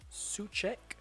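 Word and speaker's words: Souček: as well um Thomas such Che that's how you pronounced his name uh that's how he's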